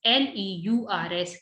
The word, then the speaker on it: leurs: So leur is plural. So we put S here at the end, but we never pronounce this. L-E-U-R-S, leur, livre.